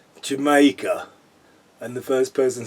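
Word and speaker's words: D'yer Mak'er: Now, I hear Americans talking about this song and they don't understand they they don't understand that it's pronounced Jamaica and that as a sort of cod reggae song.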